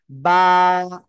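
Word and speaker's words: با: কি করা যাবে না ই করা যাবে না দুই ঠোঁটের ভিজা অংশ থেকে বা উচ্চারিত হবে বা হরফে এক আলিফ টেনে পড়তে হবে বা বা এক আলিফ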